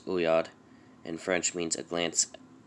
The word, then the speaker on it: oeillade: so down to origin ouiad an amorous glance has been in english for more than 400 years but remains completely unnaturalized from the word is obviously french it's pronunciation not obvious uyad and french means a